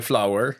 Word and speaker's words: Flower: On m'a dit que c'était Flower. Flower, ah ben. Ouais, dans la façon de le prononcer.